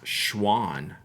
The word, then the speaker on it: Shawan: Jack though lafrey egg there's Shawan Road by me is a major road but don't you dare pronounce this first day it's Schwann really Schwann I don't I